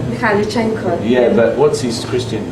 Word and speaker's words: Mikhailichenko: Yes, how would you pronounce his name? Mikhailichenko.